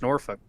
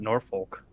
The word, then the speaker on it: Norfolk: because down by Norfolk which is pronounced Norfolk not Norfolk as everyone I always thought that and I was like oh it's Norfolk I guess so I was down